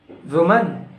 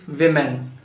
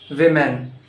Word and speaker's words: women: Now tell me, how do you pronounce this word? Woman. Woman, it's not woman, it's women. Women.